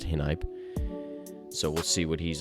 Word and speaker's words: Hinype: That's how it's pronounced, Hinype.